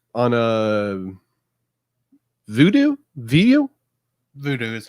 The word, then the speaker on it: Vudu: most um uh it's on a voodoo video voodoo is how to pronounce yeah voodoo yeah voodoo thank you yeah it's available on